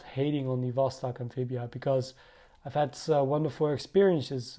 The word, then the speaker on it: Vostok: though is that beautiful Vostok logo here it is a B but I learned that the B should be pronounced as a V so that brings you to Vostok it has a few